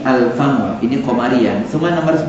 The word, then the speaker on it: Alfamart: mulut satu-satunya disini Alfan maka dibacanya Bukan affamart tapi Alfamart ini pemberian semua nomor